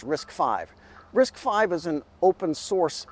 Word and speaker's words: RISC-V: little more sense then risk five this is pronounced risk five risk five is an open-source system that software